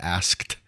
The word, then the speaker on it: asked: I've asked. Let me pronounce the K.